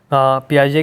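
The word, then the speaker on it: Piaget: cognitive three bye gene पियाज इसको पियाजे pronounce किया जाता है राइट थरी ऑफ लैंग्वेज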